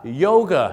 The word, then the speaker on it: yoga: เลย ครับ โยคะ ครับ ฝรั่ง เ เรียก ว่า yer นั่น เอง ครับ ดัง นั้น ครับ ถ้า ฝรั่ง